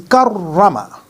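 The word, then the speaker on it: كَرَّمَ: It is karrama. We should spell it like kaf ra fatha kar ra fatha ra karra mim fatha ma karrama.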